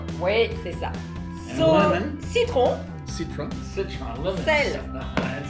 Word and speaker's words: citron: Citron. Citron. Citron, lemon. Sel. And when you say your R's in French, you got citron.